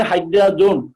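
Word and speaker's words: hydrazone: খেয়াল করো আমি এখানে বলছি হাইড্রাজিন, কিন্তু এখানে নামের শেষে হাইড্রাজোন, হাইড্রাজিনটা হাইড্রাজোন হিসেবে উচ্চারণ হবে।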